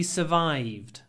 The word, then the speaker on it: survive: I don't know how she survived. To survive, okay, it's written S-U-R, but we don't say the R, just survive. Survive.